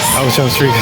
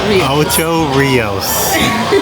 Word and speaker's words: Ocho Rios: Ocho Ricos. How you say it? Ocho Rios.